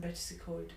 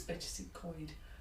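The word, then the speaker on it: Betws-y-Coed: I always say that wrongly, so apologies if I've said that wrong. Matthew always tells me off and tells me I'm saying it wrongly. So I think it's Betchesy-Coed. I might always say Betchesy-Coed and he says it's Betchesy-Coed.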